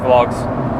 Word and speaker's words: vlog: doing these vlogs, which I've learned apparently vlog is the right way to say this. So when I was saying vlog before, people were probably like, what the fuck is this guy on about?